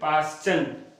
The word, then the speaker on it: Paschen: तो ये लाइमन हो गया, ये बामर BALMER, फिर पास्टन, स्पेलिंग में देख रहा हूं PASCHEN, फिर ब्रैकेट BRACKETT, फिर फुंड PFUND, फुंड।